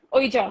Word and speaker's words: Ouija: I think it's pronounced as Ouija, if I'm not wrong. Ouija, yeah.